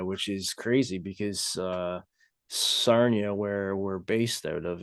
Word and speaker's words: Sarnia: never been like like Sernia. Is that how you say it? Sarnia. Yeah, Sarnia. Yeah.